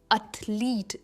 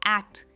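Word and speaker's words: athlete: एथलीट नॉट एक्ट इट्स अ लीट। E stretch होता है पर स्ट्रेस जो है वो अर्थ पर है।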